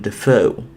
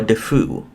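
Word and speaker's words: Dafoe: So we have William Defoe, or Defoe, however you like to say his name.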